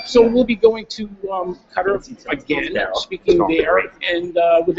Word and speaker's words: Qatar: It's many Americans say Qatar, but it's Qatar.